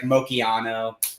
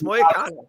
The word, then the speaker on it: Moicano: It's like Mochiano, Money Mochiano. That was one time. It's Moicano. Okay.